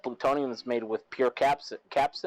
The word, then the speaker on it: capsaicin: That plutonium is made with pure capsaicin.